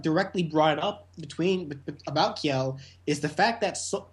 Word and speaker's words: Kjelle: From what I've seen, the J in her name is supposed to be uh pronounced like a Y.